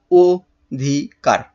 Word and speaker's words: অধিকার: পরের পরের শব্দটা দেখো পরের শব্দ কি রয়েছে অধিকার অধিকার অধিকার কারণে ও হবে অধিকার দেখো তাহলে আমরা কি করব প্রথমে কি করব প্রথমে হচ্ছে এর অক্ষর বিন্যাস করে ফেলবো তাহলে কি হবে ও ধিক কার ও ধিক কার তাহলে